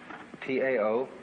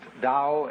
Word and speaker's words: Tao: is all the Dow t AO pronounced Dow in the Mandarin dialect Tao in the chung